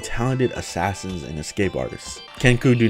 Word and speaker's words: Kenku: Is that what the, maybe I'm saying the name wrong. Back in the same world. It's Keknu, right? Kenku.